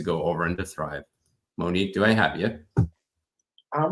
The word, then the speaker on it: Moniek: All right, we are in the Superhero Battle Room with Moniek. I actually pronounced it right because I asked before I went on stage because I wasn't used to that spelling.